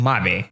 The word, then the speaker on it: Mabe: ruthless in the comments I'm gonna pronounce it Marin and mommy and whoever has an